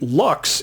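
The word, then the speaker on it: Lx: recent release of the Lux is the letters l and X but pronounced Lux I'm leaning towards all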